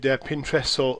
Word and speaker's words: Pinterest: Now, I found out the other day that it actually is Pinterest. The guys who developed it, I was listening to a recording that they'd made, and they were terming it as Pinterest because sometimes you'll hear it pronounced different, like Pinterest, lots and lots of different ways. But the guys, I think it was a week ago, that they said Pinterest, so we'll go with that.